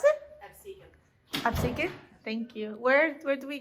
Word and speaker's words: Absecon: Hi Welcome to the Absecon lighthouse! How do you pronounce it? Absecon!